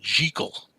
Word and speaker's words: Jekyll: Hyde, always liked to pronounce the character Jekyll. It's really Dr. Jekyll, like oh gee.